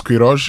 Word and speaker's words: Queiroz: Carlos Kirro or Kirros, whichever way you want to pronounce that.